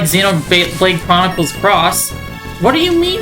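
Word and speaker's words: Xenoblade Chronicles X: Also, the X is pronounced cross.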